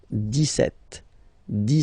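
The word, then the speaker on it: dix-sept: Okay, so you don't insist on the s. 17, 17, 17.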